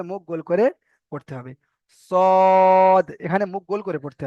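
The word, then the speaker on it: ثا: তারপরে এই অক্ষরটির নাম হলো সা। সা, জিভের আগা এবং দাঁতের আগার সঙ্গে, সামনের 2 দাঁতের আগার সঙ্গে লাগিয়ে উচ্চারণ করতে হবে।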